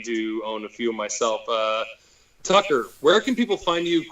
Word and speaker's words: Tucker: Tucker rhymes with fucker, Tucker, or you can do Tucker.